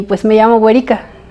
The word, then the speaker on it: Weri: muy original y este y pues me llamo güerica y se escribe así w e r y Mateo Mateo